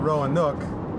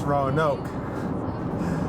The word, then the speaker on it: Roanoke: town we're going to it's not rowan nook it's roanoke so if you happen